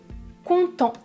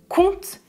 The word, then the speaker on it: content: troisième personne du pluriel et attention à la fin des verbes à la troisième personne du pluriel on ne prononce jamais -ent il est content ils content numéro 2 comment est-ce que vous prononcez ce mot ?